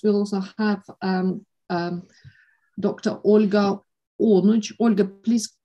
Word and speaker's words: Onuch: Olga Onuch. Olga, please correct me if I'm wrong. Is that the right pronunciation? Olga Onuch. Yeah, that's what I thought. Olga Onuk, so my apologies.